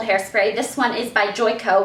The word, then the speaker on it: Joico: this one is by joy KO which I love how in my first ever everyday hair routine video I totally pronounced this brand josie o shows how far I've